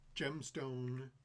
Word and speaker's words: Gemstone: call this town gemstone gemstone to rhyme with tombstone rough-and-ready frontier colony and